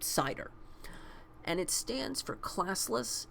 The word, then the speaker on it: CIDR: talk about CIDR and it's pronounced cider and it stands for